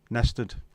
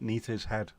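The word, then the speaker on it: Næstved: Us locals, pronounced nested. Good effort. I knew it wasn't going to be Nita's head. I thought Nettershed.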